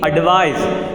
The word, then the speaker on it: advise: So students, whenever we advise other, okay, not advise, the pronunciation must be advise.